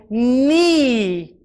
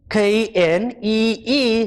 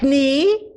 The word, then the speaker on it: knee: where granny is the knife falls on my knee k n plus e e k n e e not knee but knee this is my knee the knife